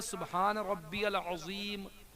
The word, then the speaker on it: سبحان ربی العظیم: صحیح نہیں ہوتی ہے۔ تو اب جس طرح سے ہم نے کہا سبحان ربی العظیم، زوا پڑھا ہے میں نے، تو زوا کی